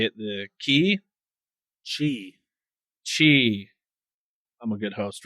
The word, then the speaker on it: Qi: The key chiq chi I'm a good host, right?